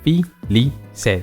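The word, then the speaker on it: Félicette: If you don't know how to pronounce the name, it's called Felicette.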